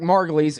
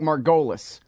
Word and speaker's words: Margolis: show first is Eric margulies Eric margulies comm is his website spell it like margolis that's how I said it wrong for the first five years I knew this guy Eric margulies at Eric